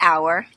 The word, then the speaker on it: hour: So this hour, H-O-U-R, is spelled with an H, but it sounds exactly the same as our classroom.